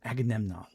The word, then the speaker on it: Agamemnon: It's a Greece that's about to collapse in part due to the hubris of the Greeks, you know, especially Agamemnon. I can never say his name. Agamemnon.